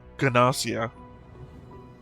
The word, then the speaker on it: Gnosia: They said Ganosia. Hard G.